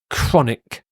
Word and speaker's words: chronic: just to confuse you the CH here has a hard C Sound chronic as does this word